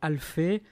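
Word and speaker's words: Alphée: tu viens d'écrire aux éditions alfé alfit s'écrit a l p h e e les lignes d'or pourquoi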